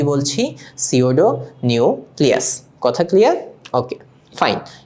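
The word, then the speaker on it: pseudo: দেখো তোমরা একটু সবাই মনোযোগ দিয়ে দেখো সিওডো নিউক্লিয়াসের সিওডোর মধ্যে পি কিন্তু প্রনান্সিয়েশনের সাইলেন্ট থাকবে। আমরা এটাকে কি উচ্চারণ করব? সিওডো নিউক্লিয়াস। এবং সিওডো কথাটার মানে আমরা বুঝি ছদ্দবেশ।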